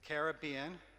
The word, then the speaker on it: Caribbean: The Gulf was home, but she also loved the Pacific and the Atlantic, the Caribbean, which is how she taught me to pronounce that.